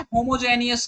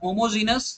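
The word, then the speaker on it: homogeneous: तो एक्चुअली ये होता क्या है, होमोजेनियस कैटलिस्ट। होमोजेनियस मतलब समझ रहे हो ना, या होमोजीनस जैसा आपका प्रोनाउंसिएशन हो, ठीक है।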